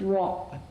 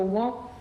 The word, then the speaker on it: wok: In Cantonese it's pronounced in wok with a k sound formed in the mouth but not released. So, wok not wok.